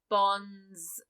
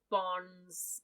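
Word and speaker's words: Bondze: would be david papa bonds bonsai burr because the bonds is b-o-n-d-z-e so it's like a taste about bronze without the d yeah i was gonna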